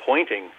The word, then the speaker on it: Poynting: almost a pun because the fellow who invented it was named pointing spelled with a y uh he was an